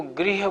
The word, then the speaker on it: गृह: उसको ग्रह बोलना है। इसको गृह बोलना है। थोड़ी बात का अगर ध्यान रखेंगे, आपका उच्चारण शुद्ध होगा।